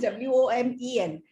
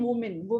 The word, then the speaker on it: women: When it is plural, it is WOMEN. Then the pronunciation is women. V ko choti e, m ko choti e na. Women. Okay. So when you have to use plural, you were saying woman, nahi, women.